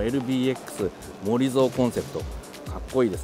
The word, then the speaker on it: モリゾウ: そうですけれども読み方としてはえモゾコンセプトと読むそうですこちらのレクサス LBX